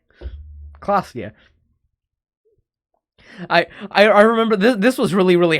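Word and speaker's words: Klaasje: Revachol, Orania, and Klausia is pronounced Klausia. Klausia.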